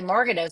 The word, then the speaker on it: Magarinos: I was going to say Margarinos, so I would have said it wrong.